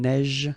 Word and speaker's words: neige: Un neige. Final E not pronounced. You only pronounce this j.